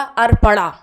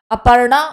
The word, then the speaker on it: अपर्णा: spelling क्या है अर्पणा लेकिन यहां पे प में ये क्या हो जाएगा अर्पणा वो क्या है अपर अपर्णा और अर्पणा ये क्या है अर्पणा ये